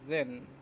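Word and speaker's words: zehn: এইটকে বলে হচ্ছে আক্ট, আক্ট, এটা আক্ট, উচ্চারণ হচ্ছে আক্ট। নাইনকে বলে হচ্ছে নয়েন। টেনকে বলে হচ্ছে জেন।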